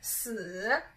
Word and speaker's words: 死: So death or dead in Chinese is 死, 死, it's a third tone.